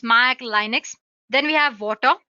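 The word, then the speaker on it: Watir: platforms like Windows Mac Linux then we have water w a TI basically it's pronounced as water is an open-source testing tool made up of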